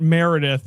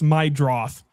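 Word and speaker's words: Meidroth: It's not Meredith. It's Chase Mydroth.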